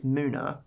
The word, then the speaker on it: MUNA: never really say it out loud but it's Muna this is a song called I know a